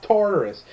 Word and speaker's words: Tartarus: broke out of Tartarus it's Taurus I played God of War I know it's pronounced Tartarus also a bit of